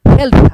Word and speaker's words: health: به شما میگه که تلفظ صحیح این کلمه health هست، health نیست، health. T و H رو به صورت مخصوصی تلفظ میشه کرد.